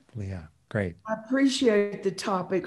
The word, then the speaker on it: Leah: Yes, Rick, it's Leah. Leah, great.